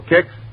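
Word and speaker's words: Kix: waiting for all right ask your grosser for kicks tomorrow morning that's spelled k IX kicks w now the curtain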